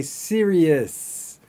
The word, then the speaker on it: serious: Many students will pronounce the following words slightly wrong. Serious. But we actually say serious. Got it? It's not an us or an os, it's an is.